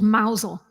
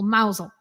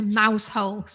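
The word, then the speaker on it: Mousehole: mouse mouse hole but it's pronounced by the Cornish people mousel so you don't want to go there and say can you tell me the way to Mouse holes that wouldn't be good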